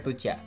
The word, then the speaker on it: Tujia: adalah sebuah suku minoritas di Cina bacanya tucia oh tuciaa tu jadi cukup minoritas